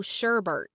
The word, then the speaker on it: sherbet: is because a lot of Americans actually add an extra letter that's not even there. What? We call it rainbow sherbet, Sherbet. which is not even how it's spelled. Like You're there's sticking no another R in. R in there, but for some reason people call it sherbet. Sherbet. I don't know why.